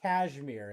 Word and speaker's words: KSHMR: That was Take Me Home by Kashmir, and that's spelled KSHMR.